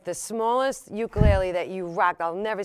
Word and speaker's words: ukulele: different yeah it's a tenor ukulele it's uh pronounced ukulele uh is the proper pronunciation okay uh and